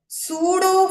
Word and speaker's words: pseudo: ಸೊ pseudo force, here P is silent, pseudo force balancing the weight of ದ ಆಸ್ಟ್ರೋನಟ್ ಅಂತ ಹೇಳ್ತೇವೆ.